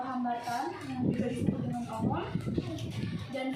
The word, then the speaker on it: ohm: Kalau bacanya ohm. Nah, gitu ya. Kayak ada khas. Ohm. Bukan om.